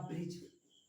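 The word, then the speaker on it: bridge: मैंने कहा ब्रिज, यहाँ पर भी हमारा डी क्या है, साइलेंट है।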